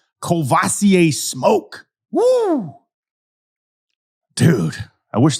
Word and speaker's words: Courvoisier: I don't know if he's named after the cognac, but it's the same pronunciation. Courvoisier Smoke.